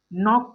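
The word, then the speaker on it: knock: उसी प्रकार इसे हम लोग नॉक पढ़ेंगे। क्या पढ़ेंगे? नॉक।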